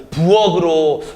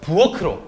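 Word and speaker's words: 부엌으로: 그러면 부억으로 뭔가 발음이 좀 이상한 것 같아요. 그러면 음절의 끝소리 규칙을 적용하지 않은 상태에서 한번 보도록 할까요? 부어크로. 그렇죠. 부어크로. 어때요? 올바른 발음이 될 수 있다는 겁니다.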